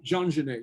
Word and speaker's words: Jean Genet: Jean Genet, yeah.